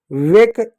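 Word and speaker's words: wake: अब देखो डब्ल्यू से व ए से ए की मात्रा। के से क वेक। ये साइलेंट होगा।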